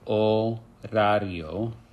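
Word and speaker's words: horario: know is our orario remember that H is silent it's orario and our orario is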